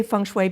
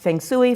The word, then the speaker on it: feng shui: and by the way i say function because that's the mandarin pronunciation it can be pronounced Feng Tsui fun SOI fon schooi it just depends upon the dialogue so you really can't mispronounce it ok captain I'm listening